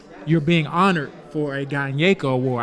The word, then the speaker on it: Gyneka: being honored for a Gyneka Award. I was told it's Gyneka. I called it something else, and that wasn't what it was.